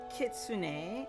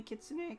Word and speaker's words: Kitsune: I think it's Sean, pronounced Sean, but definitely Kitsune, because that's a Japanese word.